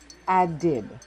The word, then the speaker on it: added: The ed ending changes the one syllable word add to the two syllable word add did in its past form. E D is pronounced id added. The woman added a pinch of salt to her coffee.